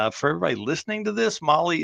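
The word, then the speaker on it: MAHLE: And for everybody listening to this, Molly is spelled M-A-H-L-E. Molly, M-O-L-L-Y, Motorsports is a completely different thing.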